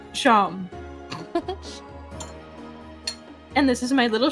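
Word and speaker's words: Seam: The name's Sham. Pronounced Sham.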